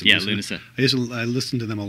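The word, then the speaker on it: Lúnasa: That's how you pronounce it? Yeah, Lunasa.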